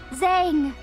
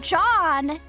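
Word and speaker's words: Zhang: I in my head I was I was pronouncing it as Zang.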